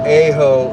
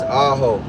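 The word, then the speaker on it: Ajo: It's not A-ho, it's Aaho.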